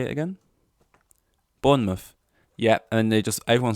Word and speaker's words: Bournemouth: more south than London they don't bother pronouncing the end so if anyone wants a heads up don't call it born around people from Bournemouth call it Bournemouth although that just sounds